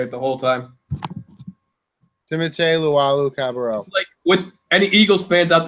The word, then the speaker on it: Luwawu-Cabarrot: Timothy Luwawu-Cabarrot.